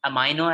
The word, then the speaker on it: amino: Americans say amino acids, British people say amino acids. Both are correct pronunciations.